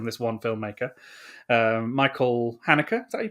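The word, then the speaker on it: Haneke: between us from this one filmmaker um michael hanukkah that you pronounce it hanukkah i think so yeah um so the piano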